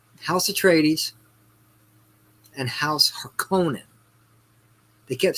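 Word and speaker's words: Harkonnen: okay it's uh house of tradies and house herconan they kept saying hearkening i'm like y'all are saying this [ __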